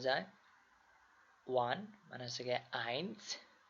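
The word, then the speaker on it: eins: উচ্চারণের সমস্যা হবে না যেমন এ পরে যদি ই থাকে তাহলে এটা হবে আই যেমন আই এন এস আইনস যেমন এস এখানে আমরা হচ্ছে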